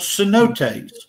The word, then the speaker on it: cenote: truth yes i can okay those are called cenotes so pronounce that after me there standing for truth